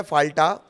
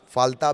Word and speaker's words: Falta: एक सीट है फाल्टा, फाल्ता भी इसे आप कह सकते हैं प्रोनाउंसिएशन के हिसाब से।